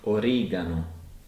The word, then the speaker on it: oregano: Most of the time, it's a hard G sound. Like in oregano.